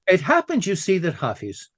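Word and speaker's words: Hafez: happen you see that hais or hais as it should probably be pronounced but in ger the Germans always say hais what he did what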